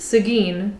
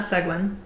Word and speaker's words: Seguin: i since learned that the city name is pronounced seguin not segwin today however i'm having lunch in lockhart where